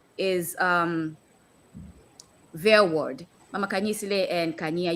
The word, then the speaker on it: Verwoerd: That's the pronunciation. Verwoerd.